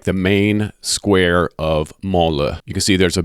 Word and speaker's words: Mansle: And I know it looks like Mansley or Monsle, but the S is silent, so it's pronounced Mansle.